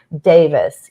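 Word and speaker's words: Daviess: lived in um kind of the Ohio County Davis County region of Kentucky it's pronounced Davis here but it's actually spelled Davies if you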